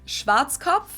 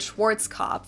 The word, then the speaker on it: Schwarzkopf: over the world pretty much in german we pronounce it schwarzkopf which literally means black head schwarzkopf english native speakers usually pronounce it schwarzkopf or schwartz cough or something along those lines deutsche bank is